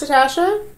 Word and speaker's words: Natasja: what's going on is that a waste i'm natasha i'm michelle it's pronounced natasha and pronounced michelle and we are writers yep